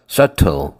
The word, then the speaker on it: subtle: 20번은 예문이 하나네요 그죠 20번에 발음 조심해야돼 발음 그래서 여기서서 안 돼요 트 안 되고요 sule sule 비가 무음이에요 비가 묵음이다 조심하세요 sule sule the relationship